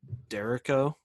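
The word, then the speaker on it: derecho: know nothing about that so it's spelled like d-e-r echo so okay this town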